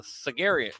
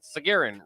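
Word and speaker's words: Sagarin: based on uh the sargerian sargeran ratings based on what I think it's pronounced sargeran readings who what in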